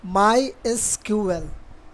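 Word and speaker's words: MySQL: माई एसक्यूएल is pronounced as माई एसक्यूएल।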